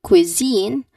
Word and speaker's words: cuisine: The long e sound should be at the second syllable.